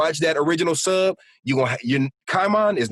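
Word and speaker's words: Caiman: They call him, they don't say Kaimon, they say Kaiman.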